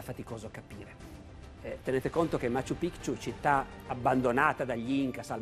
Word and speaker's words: Machu Picchu: le città degli Inca, Machu Picchu. Pare che si pronunci così, facendo sentire la C dura.